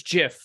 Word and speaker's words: gif: pronounce the word gif it's Jiff so what is the actual like if you went to the creator of the file type calls it gif every normal sane person